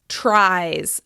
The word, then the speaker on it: tries: It ends in a vowel sound, /ai/. I, i, i. You'll notice that the /ai/ sound is also voiced. In fact, all vowel sounds are voiced. That means the third person singular, or the plural, of the word "try" is "tries": tries, tries, tries.